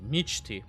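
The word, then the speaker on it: Mechty: pronouncing that correctly uh apparently it's a Russian name and it means dream in sleep which makes sense cuz G11 likes to sleep a lot so meti is how you pronounce it not me me me2 me2 or however they pronounce it on stream so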